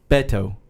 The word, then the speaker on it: Beto: but Andra I'm sure you have in paedo Beto Beto Beto so but there you go I